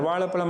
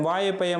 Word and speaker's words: வாழைப்பழம்: இந்த லானாவை ஜானா மாதிரி தான் பண்டிதர்கள் உச்சரிப்பார்.